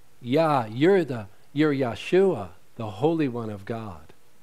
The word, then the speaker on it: Yeshua: And back then, they would say, Yeshua.